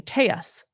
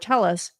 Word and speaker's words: Telles: Vegas Review Journal um people in El Paso still use the Spanish pronunciation tus for the family name but during his time in Las Vegas Robert Tellus pronounced his last name tell us this is Las Vegas